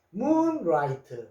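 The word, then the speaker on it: moonlight: 자, 그러면 Gh는 소리가 없네. 자,요 소리 없는 것을 무음이라 그러죠. 안 쓰면 안 되고 있어야 되는데 소리는 내지 않습니다. 그래서 라이 소리야 소리가 나기 때문에 라이트 문라이트 하면은 달빛 월광 달월 빛광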